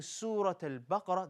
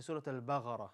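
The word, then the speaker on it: سورة البقرة: And also, in some languages, for example, in Saudi Arabia, there are certain people they would pronounce qaf as gaf. So rather than saying Surat al-Baqarah, they say Surat al-Baghara.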